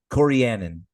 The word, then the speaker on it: Corianin: Corianin. Thank you. She you missed a syllable in the middle, but I don't know the pronunciation.